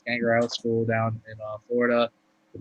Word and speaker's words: Gangrel: I don't know why I was about to pronounce his name wrong. It's Gangrel School down in Florida.